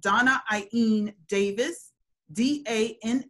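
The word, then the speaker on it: Dána-Ain Davis: washington medical apartheid doc her name is not pronounced the way it spells i'm going to spell it donna ein a davis a hyphen a i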